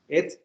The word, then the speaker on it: et: O más bien e, porque no se pronuncia et.